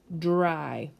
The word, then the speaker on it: dry: sound bye try dry remember dry is spelled with a dr it's not a j has a little bit of a j sound but it's dry then the next ones